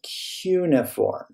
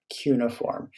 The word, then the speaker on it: cuneiform: cuboid then we have three cuneiform it is pronounced based on what i can find cuneiform cuneiform uniform is actually a kind of actually term